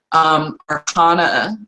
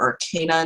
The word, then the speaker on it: Arcana: Arcana or Arcana, depending on how you prefer to pronounce it, is going to be +0 because I have it's based on intelligence.